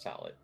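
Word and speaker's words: sallet: It's actually pronounced salad.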